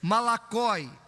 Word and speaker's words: malakoi: Malakoi, se você quiser marcar, é do jeito que se escreve e se fala, porque é uma transliteração.